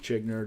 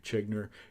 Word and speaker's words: Zschiegner: but anyways once again my name is chinner don't ever pronounce it wrong when you see my name because I'm telling you exactly how I pronounce it now my name is chinner and you have been watching X trending the